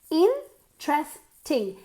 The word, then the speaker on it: interesting: is really interesting interesting interesting three syllables emphasis on the first syllable interesting no interesting interesting